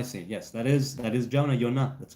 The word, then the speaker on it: Jonah: I meant Jonah pronounced Yonah. Oh, I see. Yes, that is Jonah, Yonah.